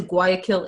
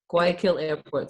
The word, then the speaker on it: Guayaquil: The airport is Guayaquil Airport. I wrote it down in the chat so you can see how it's spelled. Guayaquil, Guyaquil. Guayaquil Airport.